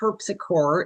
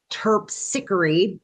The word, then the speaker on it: Terpsichore: So throughout the presentation um I will refer to her as Tarpsy but the proper pronunciation of her name is Turppsery not Turpsore a common you know